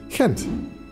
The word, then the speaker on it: Gent: again or as we gentians pronounce it kent we're a spoiled munch we have so much